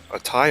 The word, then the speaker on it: Ty: Well, it said Thai, but it's spelled TY.